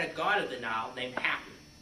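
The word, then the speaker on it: Hapi: god of denial named happy just like you know the word like oh i'm so happy but it's spelled h-a-p-i and you know perhaps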